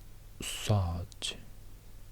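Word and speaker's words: ص: So it's like a heavier version of S. You have S and you have S, but you pronounce more inwards, more introvert. You don't let the air out of your mouth. You hold it back in a way. keep the air, and it becomes a bit different sound.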